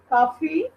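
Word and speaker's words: काफ़ी: कैसा है हम्म, तुम्हारी काफी काफी फी नहीं है, फ नहीं है, फ है, उसके नीचे बिंदी लगी हुई है ना, तो वो फ है, उसको फ प्रोनाउंस करते हैं। काफी।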